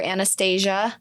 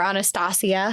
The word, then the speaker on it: Anastasia: finally in 19 1951 Albert Anastasia mhm or Anastasia no it's Anastasia I'm just never sure of the different pronunciations cuz I know there's several different ways to pronounce that the way we